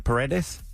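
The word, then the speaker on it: Paredes: Pedes.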